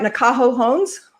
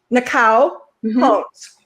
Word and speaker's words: Nakao Hones: Uh am I pronouncing your name right? Nah Holmes. Nao. Nao Hones. Yes, I'm Japanese. So that's a Japanese name.